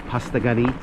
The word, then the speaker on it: Postagoni: Doesn't really look like that on the sign, the name, but it's an indigenous word, and so the pronunciation is Postagoni.